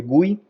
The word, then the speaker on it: GUI: de gráficas de hecho uno usualmente les dice gui eh desconozco el Por qué no lo pronunciamos como gi sino como gui no sé